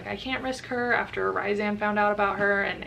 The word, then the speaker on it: Rhysand: I found out I was pronouncing Rhysand's name wrong. It's Rhysand, which I feel like that's a really ugly way to pronounce his name. I prefer Rhysand, so I'm gonna stick with that.